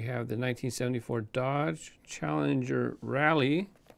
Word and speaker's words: Rallye: And in green, we have the 1974 Dodge Challenger Rallye. I don't think you pronounce it any difference because it has the E. It's not like Rallye or anything.